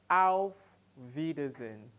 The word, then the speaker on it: auf Wiedersehen: let's take it together ow wiedersehen ow wiedersehen ow Rhydian ow citizen ow Vedas and you see the w is pronounced as V in our next lesson